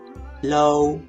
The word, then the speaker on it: low: He said, "Low is pronounced with an O and not an R sound." Thank you again, this helped me to improve the video's qualities. Now, I should pronounce low, low, low.